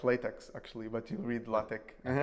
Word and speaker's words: LaTeX: Yeah, basically, right now, what we are showing, let's say, or the user is able to interact is with LaTeX, which is more or less is like some